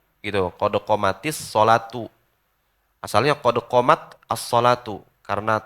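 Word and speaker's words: قد قامت الصلاة: Ada sebab ada yang qad qamatus sholati. Salah tuh. Jadi yang benar qad qamatis sholatu, qad qamatis sholatu.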